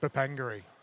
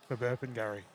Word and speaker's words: Burpengary: Bapangari. Burpengary.